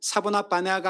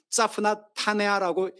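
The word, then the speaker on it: צפנת פענח: 자프나 파네아흐라고 하는 히브리어 이게 히브리어로 읽으면 사보나바네가 아니라 자프나 타네아라고 읽게 됩니다.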